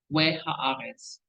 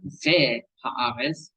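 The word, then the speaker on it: וְהָאָרֶץ: And straight out the gate, we can see we haaretz, not ve haaretz, we haaretz, hayita tohu wavohu, ba, we, not ve, ba, no.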